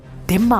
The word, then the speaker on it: dhimma: अरबी शब्द जिम्मा जब अंग्रेजी में लिखा जाता है तो इसकी स्पेलिंग DHIMMA होती है, यानी धिम्मा होती है, और उन शर्तों को मानने वाले धिम्मी कहलाते हैं।